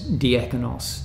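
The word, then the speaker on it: διάκονος: they had a word diakonos we pronounce it in English as diakonos this is slightly different but one who executes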